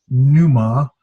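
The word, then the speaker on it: πνεῦμα: and I almost never I keep it a silent P but some people make a canoe ma Anu but I just don't knew so I make the silent P but others don't so new mom and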